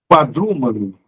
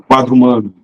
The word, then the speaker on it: quadrúmano: Quadrúmano, não é quadrumano.